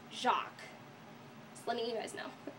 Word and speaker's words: Jacques: like mispronouncing it and all but it's actually pronounced jacqu just letting you guys know now this level